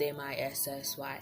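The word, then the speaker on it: Mici: Missy is spelled M-I-C-I and pronounced M-I-S-S-Y.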